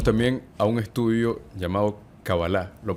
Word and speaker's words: Kabbalah: Hablando de masonería, hablando de este misticismo, como mucha gente lo ve, llegamos también a un estudio llamado Kabbalah. ¿Lo pronuncié bien?